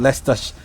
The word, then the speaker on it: Leicester: city called less fuss I know it's spelled le I see whatever it is but it's less less than sitting okay alright it's actually from Lester's is Lester there's Lester Lester a